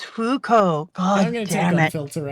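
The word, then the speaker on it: Fuuko: are serving other people uh how do you pronounce her name which which one our main person Fuko it's just Fuko okay my brain wanted to add something you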